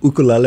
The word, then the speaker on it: ukulele: I think ukulele is another one. Ukulele, yeah. Yeah. Ukulele. Yeah. Yeah. Ukulele.